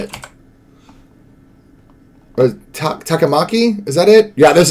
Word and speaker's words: Takamaki: said, I'll pull up an image of Anne Takamori, whatever, however you say her name is. But I was like, you had me at Catwoman, what? Is it Takamori? I forget how you say it. Or Takamaki?